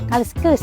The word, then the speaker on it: kaliskus: Ang tamang pagbigkas ng kaliskis ay kaliskus.